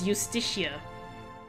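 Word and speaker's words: Iustitia: say it's eusticia so I think this is like a Latin thing the eye you don't actually pronounce it as an eye it's it's a j sound so it's eusticia I believe foreign thank you foreign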